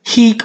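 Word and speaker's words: hīc: hick best or coos pic with a short I means he this this this hick with a short I this heat with a long I here so this is the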